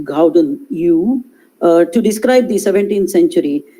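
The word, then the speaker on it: Gouden Eeuw: longer use the term golden age uh it's pronounced gauden u to describe the 17th century when i mean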